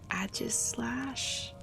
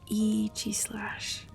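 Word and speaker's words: Aegislash: Um Agis Slash. Nope, I said it wrong. EG Slash.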